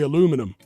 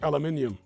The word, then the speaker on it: aluminium: Fernie G says, it always takes me a second when a UK person pronounces aluminium. Yeah, because Americans say aluminum. We say aluminium.